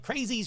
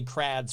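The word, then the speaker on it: Crwys: not how you probably pronounce it you probably pronounce it like crazies road come on kurt in in in wales w-y is called is pronounced ad so it's actually crads road no i don't know this [ __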